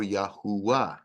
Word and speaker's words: Yahuah: very Dynamic but uh I think it's more accurate to be yahovah or yahuah is his name yod V is the